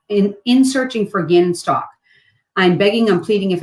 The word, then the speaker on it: Stauch: get it right people it's not struck in stock left to walk to